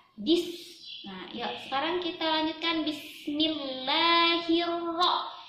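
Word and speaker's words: بِسْمِ اللَّهِ الرَّحْمَٰنِ الرَّحِيمِ: SIM sukun langsung ditekan gas untuk Wendy tekan membacanya bis-bis Nah coba sama-sama bis-bis bisa ada pantulan ya this Nah sekarang kita lanjutkan Bismillahirohmanirohim Bismillahirohmanirohim Bismillahirohmanirohim bismillahirohmanirohim itu cuma satu ayunan Kenapa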